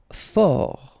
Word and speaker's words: fort: Fort, final T not pronounced.